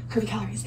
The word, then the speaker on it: Curvycalories: My weight loss Instagram, it is at Curvycalories, but it is spelled a little different. It is Curvycalories. So it's Curvycalories, but calories has 2 I's in it. So that is the only difference.